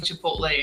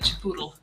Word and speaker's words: Chipotle: That reminds me of that old Jack in the Box commercial where Jack keeps mispronouncing Chipotle and calls it Chipoodle.